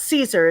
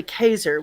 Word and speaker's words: Caesar: celte by the way it's not caesar it's really kaiser which is how you